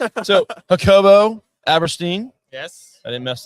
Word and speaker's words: Jacobo: Like most people call me Jacobo, Jacobo, Jakobi. I don't even know where they they get the e from.